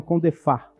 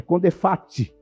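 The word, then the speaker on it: CONDEPHAAT: Então tem muitas pessoas que falam CONDEFAT, mas não é. Eu pronuncio o T, é CONDEFAT, tem T mesmo.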